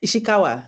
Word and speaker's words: Ishikawa: Did I pronounce that correctly? Oh, I was muted. I didn't realize I was muted. Ishikawa, yes.